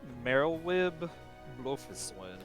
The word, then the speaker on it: Merylwib Blofiswin: It is Merylwib Blofiswin. Merylwib. Not. Oh, so it's pronounced how it's spelled, huh? Not like. It is pronounced how it's spelled.